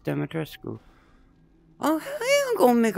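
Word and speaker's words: Dimitrescu: make a purchase he calls it a lady Demetrius that's Americanized like it's actually pronounced demetrasco oh hey I'm gonna make a purchase welcome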